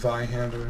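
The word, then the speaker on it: Zweihander: around here this is why hander which I'm this is by hand or is how it's pronounced I'm that's my main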